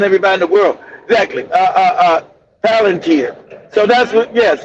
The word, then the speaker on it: Palantir: Uh, Planta, Plantia gives ice. If I'm pronouncing, I don't know if I'm pronouncing that correctly, That's Mandy.